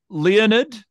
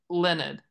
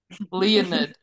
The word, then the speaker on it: Leonid: And you said Leonid, not Leonard. Yes. And that's on purpose or not? That's not just how you say Leonard. That's on purpose. Leonid.